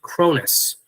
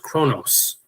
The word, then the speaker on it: Cronus: His name is Cronus, or sometimes pronounced Kronos.